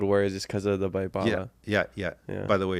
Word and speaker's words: Baibala: just because of the Baipala. Yeah. By the way, it's Baipala. Oh, even though it's a B, you pronounce it as a P. Really? Nobody says Baibala.